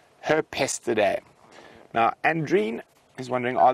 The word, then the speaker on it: Herpestidae: weasels are Mustelidae, and the dwarf mongoose is Hepstelidae. My pronunciation might be completely off, but no, not directly related to weasels, James. Now, I've actually seen Herpestidae. There we go. Herpestidae.